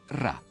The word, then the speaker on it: Ra: dalla lingua copta che il nome del sole in egiziano antico veniva pronunciato ra in basso c'era un